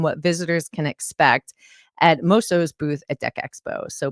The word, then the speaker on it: Moso: So, today we have Brett Kelly, CEO of I always say it wrong. It's MOS. Very good. You said it right there. Oh my gosh, I need another adult sticker. So, Moso North America.